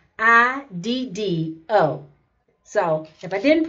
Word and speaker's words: Megiddo: I'm hoping I'm pronouncing this right. It's Megiddo.